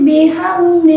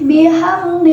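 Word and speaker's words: بِحَمْدِ: fi dinillahi afwaja fasabbih bihamdi rabbika wastaghfir innahu kana tawwaba. Terdapat lafaz bihamdi, yakni hukum bacaan idhar syafawi, disebabkan karena mim sukun bertemu dengan huruf dal. Cara membacanya, mimnya dibaca dengan jelas.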